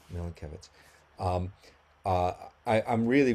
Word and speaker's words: Milenkiewicz: Nathan, uh, I think I'm I mispronounced your surname. Can you correct me please on that? Oh, yeah. It's Milan. Milan. Milan Kevitz.